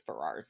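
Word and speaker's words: Farrars: they are or bears I think it's ferrars it's spelled f-a-r-r-a-r-s um they really weren't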